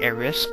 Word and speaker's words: Aerith: I think it's it's spelled aith but it's pronounced like AIS so it doesn't really matter um the name's